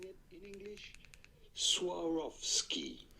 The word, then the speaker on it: Swarovski: How do you go about pronouncing it in English? Swarovski. Swarovski.